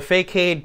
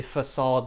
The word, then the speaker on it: facade: there we go the fake aid pattern if you want to pronounce it incorrectly but it's actually facade because it's originally a French word but so essentially what